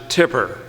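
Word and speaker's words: Tippah: mississippi temple county now if you live in the county you pronounce it tipper it's t-i-p-p-e-r but we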